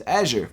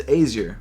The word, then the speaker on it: Azure: So I actually had to look up how to pronounce Azure because I never knew, and apparently it's this. Azure. It's Azure. I thought it was Azure or something like that, but it's Azure.